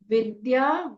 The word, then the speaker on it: विद्या: पूरा विघ्न त ब्रह्म विद्या व में छोटी इ की मात्रा आधा द विद विद या विद्या सिद्धौ स में छोटी